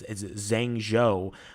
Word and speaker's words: Zhengzhou: I don't know how to pronounce it. It's Zhengzhou, but they lifted their lockdowns just yesterday.